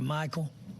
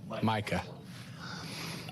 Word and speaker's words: Micah: to remind him, hey, that's not how you pronounce Micah. Would like to try to figure this out. Did I talk to Michael? Micah.